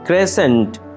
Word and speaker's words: crescent: ক্রেসেন্ট, অর্ধচন্দ্র, চন্দ্ররেখা। ক্রেসেন্ট, অর্ধচন্দ্র, চন্দ্ররেখা। এখানে mark করা সি লেটারটি হচ্ছে একটি সাইলেন্ট লেটার।